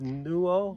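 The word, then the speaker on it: Nuʻalolo: like that, to the other trailhead, which is pronounced Nu'ololo.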